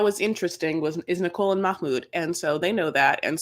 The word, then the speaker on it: Mahmoud: It's Mahmoud. Mahmoud. Or as the gays call him, Miss Mood. Anything but Mahmoud or Mahmoud. There's no C or K in it.